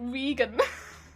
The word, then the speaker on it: regen: And I was like, Regan.